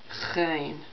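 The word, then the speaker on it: غ: It is pronounced on the very back of the throat. Gein.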